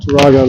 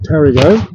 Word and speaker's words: Tarago: road, and then you'll pass through Tarago, not Tarago like the car, same spelling, but you pronounce it Tarago.